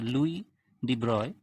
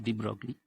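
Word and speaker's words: Louis de Broglie: Concept Luis De broglie of course this is not the right pronunciation in French pronunciation energy it's a Louis de broy but Indian students so I will continue with the Deep broccoli even teeny actor hypothesis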